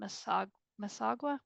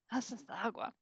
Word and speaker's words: Massasauga: On the eastern, I always pronounce this wrong, the eastern Masagua, pronounce that for me? Massasauga.